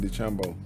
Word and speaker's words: DeChambeau: Bryson DeChambeau.